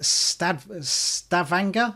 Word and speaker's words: Stavanger: But this is Dragon's Nest in Stavanger.